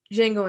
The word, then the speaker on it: Django: way you die boy django unchained it's jingle and change hell yeah uh our third nominated line the d is silent jingle and change it's